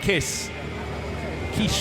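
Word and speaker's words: Kiss: On polo, Norbert Kisch, if you want to pronounce it the way it should be said, on pole position, just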